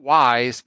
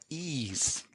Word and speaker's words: Ys: how to pronounce it it's not Wise It's ease so I found that